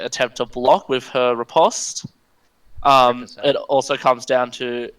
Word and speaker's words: riposte: Riposte. I take it back. You were right. It's riposte.